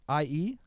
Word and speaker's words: Cherie: Cherie.